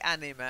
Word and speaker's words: anime: him and I'm anna-marie I say anima enemy yes it's anime is a specific kind of cartoon usually a cartoon but it's basically Japanese in fact SHINee probably